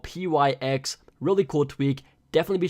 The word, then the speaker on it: Pyx: first tweak is called pyx or pikes however you want to pronounce it but that's what it